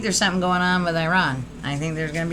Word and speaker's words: Iran: I think Iran is, or Iran, sorry, the right way to say it is Iran, is going to be an interesting location.